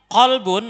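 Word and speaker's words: قلب: Nah, bedanya di qaf ya. Tadi kalau qalbun maknanya hati, tapi kalau kalbun maknanya anjing.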